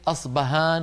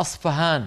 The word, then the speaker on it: أصفهان: وفي بعض الكتب تجدونها أصفهان بالفاء. لماذا؟ وهل أصبهان بالباء غير أصفهان بالفاء؟ لا، هي نفس المدينة، هي المدينة نفسها، ولكن نطقها بلغة الفرس أصفهان فهان، يعني حرف محير بين الباء والفاء.